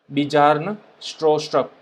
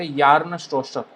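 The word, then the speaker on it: Bjarne Stroustrup: ठीक है, बिजार्न स्ट्रोस्ट्रप, इस तरह से इसको प्रोनाउंस किया जाता है।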